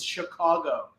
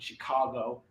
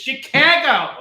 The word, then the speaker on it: Chicago: We always say we're from Chicago, but it's Chicago. It's not Chicago. Just because you're out of the city doesn't mean you get to pronounce it. We actually live there. It's Chicago.